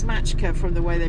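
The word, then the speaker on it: Maçka: a little place called It looks like Macka to me. I think it's pronounced Matchka. I think it's Matchka from the way they pronounce their seas, but not sure.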